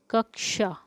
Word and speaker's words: कक्षा: कक्षा, कक्षा शब्द का शुद्ध उच्चारण क्या, तो शुद्ध उच्चारण है क्या है, कक्षा, कक्षा, ठीक है।